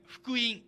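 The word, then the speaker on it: 福音: と書いて福音と読みますね。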